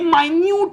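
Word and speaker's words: minute: जैसे कि लोग बोलते हैं ये है मिनट, मैंने स्पेलिंग लिख दी मिनट की, तो लोग तो इसे बोलते थे कि ये मिनट है, पर एक्चुअली में ये माइन्यूट है, ठीक है।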